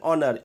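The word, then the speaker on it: honour: एन ऑनर ये word भी एस से स्टार्ट हो रहा है। लेकिन इसका प्रोनाउंसिएशन यानी कि उच्चारण अ से स्टार्ट होता है। इसलिए यहां पे एन का इस्तेमाल किया गया है।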